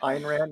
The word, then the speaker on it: Ayn Rand: Ayn Rand, yeah. Ayn Rand. Yeah, I never so- pronounced it I've tried right, 2 so- of her books and I couldn't get through them.